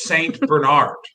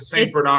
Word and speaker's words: Saint Bernard: here's what i don't like how british people pronounce saint bernard saint bernard no that's not what that dog is called the dog is the saint bernard it's saint bernard saint saint bernard is your